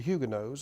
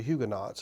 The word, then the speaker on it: Huguenots: These, of course, pits the Catholic power against the French Protestants, called the Huguenots or the Huguenots. I've heard it pronounced both ways.